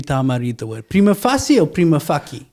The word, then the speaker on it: prima facie: Prima facie is the acceptable pronunciation. It's a Latin pronunciation, a Latin word. People who have not studied Latin would not know how to pronounce it, that they use the normal English vernacular to interpret the Latin.